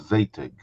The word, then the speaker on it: Zadig: And the way we did that was within a program called ZATIG. Am I pronouncing it correctly? Yeah, Zadig, yeah.